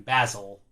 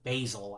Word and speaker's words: basil: But I wasn't aware that the spice is actually pronounced basil. I was thinking Basil from Austin Powers. But I guess it could be pronounced either way, either Basil or Basil.